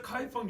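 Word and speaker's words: 开封: 개봉이고 발음으로는 카이펑이라고 합니다. 그래서 카이펑 유대인이라고 합니다. 카이펑 유대인은 혈통을 말하는 게 아니라 그 도시를 말합니다. 유대인들의 소위 자치도시를 만들었는데 그게 우리 한국 발음으로는 개봉이고요. 중국 발음으로는 카이펑입니다.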